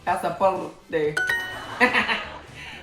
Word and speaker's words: pasaporte: Pasaporte. Roll your R. Pasaporte.